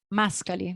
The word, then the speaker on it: Mascali: Mascali, that's correct pronunciation.